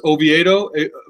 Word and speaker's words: Oviedo: institutes yeah I've been there several times that's pronounced Oviedo Florida Oviedo Elena's levite oh yeah no it's